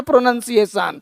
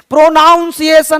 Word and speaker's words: pronunciation: प्रोनाउंसिएशन नहीं बोलना, प्रोनंसिएशन। प्रोनंसिएशन क्या बोलना है?